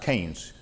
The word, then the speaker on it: Keynes: professor and i said it's uh actually it's pronounced keynes john maynard keynes you know like a walking king john maynard